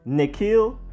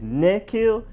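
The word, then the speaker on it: N'Keal: while receiver Nikhil Harry it is a nick not a nut doesn't really matter that much unless you have pronunciation police where you are because it's really too small of a difference to notice unless you're really trying to notice but is Nikhil and now Nakia Nakia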